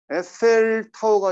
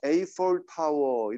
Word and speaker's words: Eiffel Tower: 에펠 타워가 아니라 Eiffel Tower 이렇게 발음을 해야 되는 거죠.